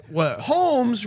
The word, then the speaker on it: Holmes: you get it schn Holmes rhymes with gnomes oh my God play